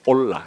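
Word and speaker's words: עולה: 번제라는 이로 번역된 원래의 단어가 올라라는 말이에요 올라 히브리어로 올라 근데 왜 지금 이게 제가 이거를 발음까지 이렇게 말해 주는 거니까 신기하게도 우리나라의 올라간다는 말과 똑같기 때문이에요 기억을 돕기 위해서 제가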